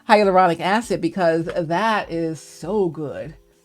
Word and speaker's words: hyaluronic acid: the higher higher I I say it wrong hyaluronic acid because that is so good for your skin